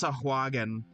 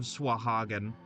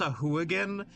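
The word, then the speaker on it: Sahuagin: I've heard I I've heard it pronounced Sahouan and it's that feels wrong. That that feels a bit incorrect. Like I don't I don't I don't believe in that pronunciation.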